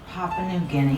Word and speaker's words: Papua New Guinea: How do you pronounce that? Papua New Guinea.